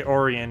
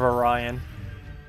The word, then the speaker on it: Orion: try doing it with Orion you know I don't say or or or orian anymore orian I used to say orian instead instead of Orion I I don't that's